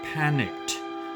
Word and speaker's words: panicked: Panic: many people have panicked over the coronavirus pandemic.